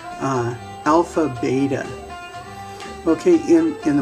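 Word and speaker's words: άλφα: of a strict f where we put our lower lip with our upper teeth alpha we you would uh actually blow through your lips and then the last day will not be a schwa and as in english so both both of the uh a's or both of the alphas will have the ah sound alpha and then the letter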